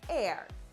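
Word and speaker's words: Aire: time Kylie unveiled his name and confirmed it's pronounced air and leave it to Chrissy Teigen to keep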